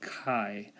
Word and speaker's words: chi: statistic is denoted now that looks like an X but that's a Greek letter that we pronounced Chi and usually spell Zhi